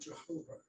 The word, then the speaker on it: Jehovah: only heard the word Jehovah, which is a made-up word that takes the consonants from Yahweh, except, you know, J used to be pronounced like a Y, because J used to be an I.